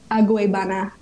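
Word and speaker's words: Agüeybaná: I'm going to insert the actual like exact pronunciation of it. Okay, it's Aguebana.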